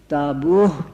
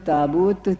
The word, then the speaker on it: تابوت: تابوت میں رکھی ہوئی، تو اس کا تلفظ مدینہ منورہ کے ڈیالیکٹ میں تابوہ ہوتا تھا، آخر میں ہے کے ساتھ، اور مکہ معظمہ کے لوگ اسے تابوت تے کے ساتھ پڑھتے تھے۔ اس پر کمیشن کے